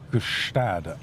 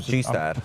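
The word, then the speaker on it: Gstaad: Gustad. Yeah, I think something that was like good. I don't know how the Swiss pronounce it. It's like the G-Stad, like the G unit.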